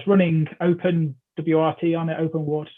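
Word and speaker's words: OpenWrt: open wrt on it open water i pronounce it um rather than the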